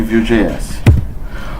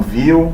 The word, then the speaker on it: Vue.js: No site ele fala para se pronunciar como Vue de model, Vue controller. Tem gente que fala Vue, que a gente é brasileiro, BR, sangue bom. Mas tanto faz um quanto o outro.